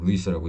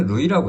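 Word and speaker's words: Louis: 우리가 원했던 대로 어 루이스라고 이름을 줬다라는 거죠. 근데 원래 루이라고 해요. 루이 s를 발음 안 하나.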